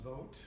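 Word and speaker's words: Vought: of the Office of Management and Budget, Russell Vogt. It's pronounced Vogt, which is kind of ironic, but nevertheless, who was also arguing for this Christian nationalism.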